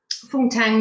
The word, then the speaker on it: Fung Tang: Did I pronounce that properly? Yeah. Yeah. Fung Tang nominated for Vice President by Anne Hocking, seconded by Paul Spence.